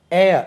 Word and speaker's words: heir: வாரிசு, HEIR, ஏர். உச்சரிப்பு எப்படி? காற்று போல உச்சரிக்கணும். வாரிசு. ஏரஸ், HEIRESS. ஆண் வாரிசு இருந்தால் ஏர், ஏரஸ். ஹெச் உச்சரிக்க விடாது, சைலண்ட் ஆகும்.